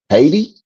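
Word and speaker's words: Hayti: Then we have one that I guess you would pronounce this um Haiti. H A Y TI.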